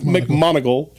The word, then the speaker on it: McMoneagle: Joseph McMonigle. It's spelled McMoneagle.